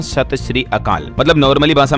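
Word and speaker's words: ਸਤਿ ਸ੍ਰੀ ਅਕਾਲ: इसे ऐसे कहते हैं सही उच्चारण होता है सत श्री अकाल तो राजस्थान के सीएम भजनलाल ने सत सत अकाल बोल दिया था इसके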